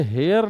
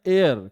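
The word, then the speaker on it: heir: अब हेयर का प्रोनाउंसिएशन यह हेयर नहीं होता है। हां नहीं है। हेयर का प्रोनंसिएशन है एयर। क्या है? एयर। ए से शुरू होगा। और ए क्या है? वोवेल साउंड है और वोवेल भी है।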